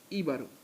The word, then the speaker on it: Jíbaro: Take out the J and put an H, which has the same sound in the J in Spanish. And you get Jíbaro.